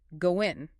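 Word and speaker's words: ご縁: The five-y coin in Japanese is pronounced goen. And goen happens to be a homophone for the Japanese phrase.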